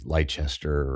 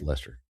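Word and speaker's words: Leicester: So Norwich and like Lester which looks like should be Lchester or Lester or something but no Lester.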